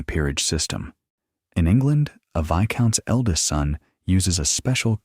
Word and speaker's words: Viscount: And yes, it's pronounced Viscount. The S is silent. Don't let it trick you.